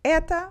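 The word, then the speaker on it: это: But again, it's written differently, but pronounced the same because when O is stressed, it's pronounced as O and when it's not stressed, it's pronounced as a.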